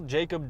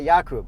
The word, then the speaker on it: Jakub: Okay, so now it's one time, but your name is Jacob, not Jakub.